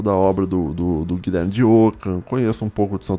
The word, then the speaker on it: Ockham: Se escreve O-C-K-H-A-M.